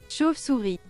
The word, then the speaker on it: chauve-souris: Chauve-souris.